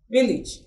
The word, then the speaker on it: village: is the sound E look at the word village Village you don't say Village you say what village so such words are also short sound so we're back to